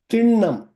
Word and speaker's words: திண்ணம்: சொல்லை இங்கே பகிர விரும்புகிறேன் திண்ணம் இது ண் என்று உச்சரிக்க வேண்டும் திண்ணம் கிடையாது திண்ணம் திண்ணம் என்றால் நிச்சயம் நிச்சயம் என்பது